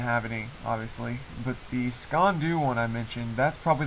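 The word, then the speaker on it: sgian-dubh: also had what uh I think is pronounced the scond do that's SK e n dhu um it's two words and then the jungle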